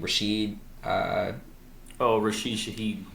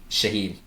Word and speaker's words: Rashid Shaheed: Rashid Shaheed. Shaheed, thank you.